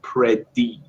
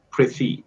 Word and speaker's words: pretty: this word just pay attention to how I pronounce the TT right it's not like pred d or it's not like pretty it's something between the two with something between T and kind of like a TV pretty pretty it's not like and it's also some